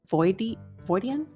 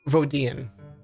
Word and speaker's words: Vodian: And I imagine like all the decorations very, is it Voidian? How is it pronounced? Vodian. Vodian.